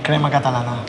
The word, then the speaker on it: crema catalana: Yeah, crema catalana. Ah, it sounds so nice. Crema catalana.